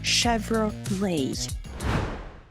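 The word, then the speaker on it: Chevrolet: роки компанія затвердила культовий логотип краватки метелика Отже вимовляємо цей бренд правильно chevrol lay головний офіс цієї компанії знаходиться у швейцарському місті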